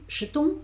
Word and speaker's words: jetons: Por esto ese jet suena como más largo y jetons hago como aquí. Nous jetons, vous jetez, porque hay solo una T, ¿vale? Es como más corto. Jetons, como casi no pronuncio esa E.